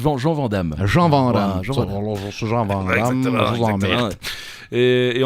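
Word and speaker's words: Jean Van Hamme: écrit Jean Vandal mais vous l'avez prononcé dam c'est Jean Van Dam Jean van Daman et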